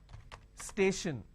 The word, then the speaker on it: station: an example for example station now when I have station I have stay Shin the t-i-o-n basically I can say s h i o n station right so t